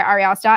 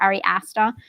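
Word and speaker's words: Ari Aster: you know this is directed by ariasta and he or arie astor if you're american if you say it correctly um and um so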